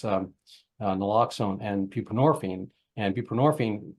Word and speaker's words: buprenorphine: nxone and borine and buprenorphine rhymes with morphine um and is a